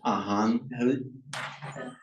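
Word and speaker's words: อาหาร: But under the rules of Thai phonetics, if a word ends in a R, it's pronounced as a N. So the word is pronounced Ahan.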